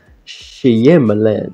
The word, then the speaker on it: Shyamalan: Is it M. Night Shyamalan or Shyamalan? Shyamalan. Yeah, that's how you pronounce his name.